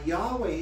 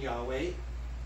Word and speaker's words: Yahweh: that you've given me so the people who said we can't pronounce it by name we don't know the vowels so so we don't want to take a chance on lightning striking us they said let's replace yahweh or the pronunciation yahweh with adonai which is hebrew for lord so whenever the jews would read scriptures where it says yahweh they left those four consonants in there but they would pronounce it adonai because they knew they